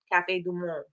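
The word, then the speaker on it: Café du Monde: chickory blend that we got from Cafe Dum Cafe dumon that's how you say it and so um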